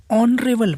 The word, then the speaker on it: honorable: For example, an hour, an honorable man, an honest fellow. Yeah, here it begins with H, all the words, but H is silent here.